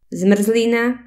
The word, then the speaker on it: zmrzlina: R et L peuvent jouer le rôle de voyelles. Ça donne des mots merveilleux tels que plný, plein, prvý, premier, prší, il pleut, zmrzlina, glace, vlk, loup, krv,